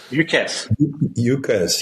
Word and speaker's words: UCaaS: Everything seems to be as a service these days, but UCR, is it pronounced UCRs or USARs? UCaaS.